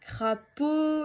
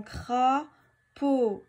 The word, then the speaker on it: crapaud: Où est-ce que j'entends O dans crapaud? Donc, dans la deuxième syllabe. Par contre, alors si on montre à son enfant le mot crapaud, il va bien se rendre compte que pourtant il n'y a pas de O.